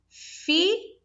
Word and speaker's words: filho: Olha, duas consoantes diferentes, mas na hora de produzir o som, o fonema é apenas um fonema. Então, eu pronuncio assim, ó, filho.